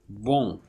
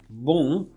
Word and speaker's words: bon: But if you pronounce the same string of sounds, the same sequence of sounds, with the nasal cavity open, which means with the velum lowered, you get a new vowel, and this vowel is a different vowel than this, and it creates contrast.